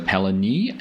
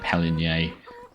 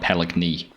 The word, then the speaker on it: Pallegney: Welcome back to Palani. Um, I had some correction on my pronunciation. I had been including the G, but it is a silent one.